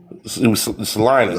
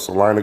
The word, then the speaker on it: Salina: Uh Sica Salina. That's what you're trying to say. You're trying to say Salena, not Selma. Salena. Oh, that's what it's called. It's called Salena, Kansas.